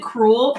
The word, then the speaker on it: crewel: Okay, it's pronounced Crewel. Don't be cruel.